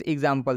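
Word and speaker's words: example: इसको एग्ज पढ़ा जाएगा। क्या पढ़ा जाएगा? एग्ज। नेक्स्ट एग्जाम्पल देखिए, एग्जाम्पल। एग्जाम्पल में भी यहाँ पर एक्स का उच्चारण क्या चीज़ से करेंगे? एग्ज से करेंगे।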